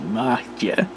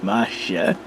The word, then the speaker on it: Magdzie: i believe is pronounced machia which is it's basically a polish word because that's where the virus originated out of poland so they call it masha and it's spelled m-a-g-d-z-i-e